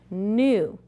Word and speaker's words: knew: Again, look at these homophones. This is the new, like you knew the answer.